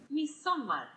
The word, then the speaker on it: Midsommar: ¿Cómo se pronuncia? Midsommar.